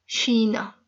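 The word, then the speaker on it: China: और चाइना को शीना, शीना। पिछले दफा भी बताया था कि जो CH का जो साउंड है, ये चा का साउंड नहीं है पुर्तगीज में, ये शा का साउंड है, शीना।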